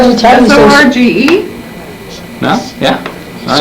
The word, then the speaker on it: Sorge: S-O-R-G-E? No? Yeah. All right. Sorge. Sarge. In Italian you pronounce it, in American you pronounce it different.